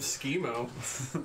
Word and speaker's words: Schemo: That's a Why wouldn't you trust a guy named Schemo? Rhymes with primo.